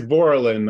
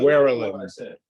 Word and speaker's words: Borland: what is iton it it is Borland I thought you were saying warland I did say warland